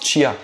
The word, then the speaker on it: chia: Oui, on prononce chia comme s'il y avait un T devant parce que ça vient de l'espagnol et en espagnol, le che se dit plutôt chia.